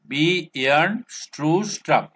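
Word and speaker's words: Bjarne Stroustrup: এস টি আর ইউ P, strap, stew strap, B ইয়ার্ন stew strap.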